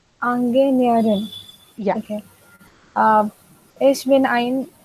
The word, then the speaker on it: Ingenieurin: How can I pronounce engineer? Angenierin. Engineerin.